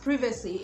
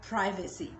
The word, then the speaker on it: privacy: So for a word like privacy, it's pronounced privacy in British English, while in American English you have privacy.